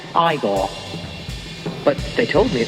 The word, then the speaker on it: Igor: You must be Igor. No, it's pronounced Igor.